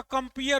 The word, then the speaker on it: compere: दोनों देखो प्रोनाउंसिएशन दोनों का कंपेयर होगा। COMPEER लिखा हुआ है और COMPERE दोनों लिखा हुआ है।